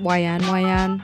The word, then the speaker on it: Whian Whian: day we headed for wean wean Falls also it could be pronounced Yan Wan so don't add me